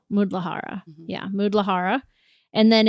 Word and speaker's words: Muladhara: It's Muladhara. Muladhara.